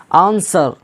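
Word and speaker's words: answer: आर आया है तो डब्लू क्या हो गया, साइलेंट हो गया। आंसर, अब देखिए आंसर, एस के बाद डब्लू आ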